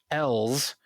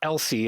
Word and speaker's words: Els: his family, the Grinwells, their daughter Els, not Elsie as it looks like it's spelled, but it's apparently still Elsie to me.